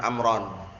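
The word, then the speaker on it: عمرًا: Ketika mansub ada wawunya enggak ada, ganti alif, amron. Paham belum? Amron alifnya apa itu alifnya? Fariqah juga. Fariqah baina Umar wa Amr. Karena amron kalau enggak ada alifnya bacanya Umaron nanti.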